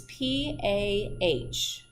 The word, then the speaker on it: PAH: one that I want you to know is pah pah pah and that stands for para amino Hipp uric acid don't worry it's spelled out on a slide for you I